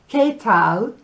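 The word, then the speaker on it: qué tal: we stay we have ketal which means how are you spelled with a q u so it's not it's k k tal and we have mucho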